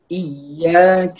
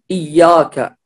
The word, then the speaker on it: إياك: حرف الكاف، فلا نقول إياك هنا الياء كأنه مفخم، لا هنا الياء مرقق. إياك نعبد إياك، وأيضا الكاف فلا نقول إياك، إياك إياك لا نقول إياك، وهذا خطأ.